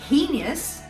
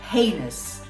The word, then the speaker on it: heinous: about the english language instead of saying heinous the right pronunciation is heinous a heinous crime was